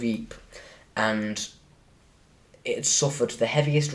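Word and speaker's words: Ypres: can't you know what I'll spell it y p Eep yeah that's it the the hills of Eep and it suffered the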